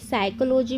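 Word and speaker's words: psychology: उसके बाद देखिए साइकोलॉजी में आप देख रहे हैं पी साइलेंट है, पी के बाद अगर एस होता है तो पी साइलेंट होता है, जैसे कि आप देख रहे हैं।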